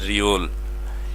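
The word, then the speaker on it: 리을: প্রথমে বসলে র, মাঝখানে বসলেও র, শুধুমাত্র নিচে গেলে ল, অর্থাৎ রিওল।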